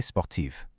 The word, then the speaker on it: sportive: Je suis assez sportive. Notice that strong v sound at the end of sportive.